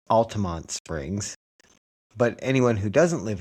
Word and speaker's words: Altamonte Springs: don't know they they as if the E isn't silent.